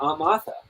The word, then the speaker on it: Martha: and i call her amatha i do not pronounce the r in martha when i when i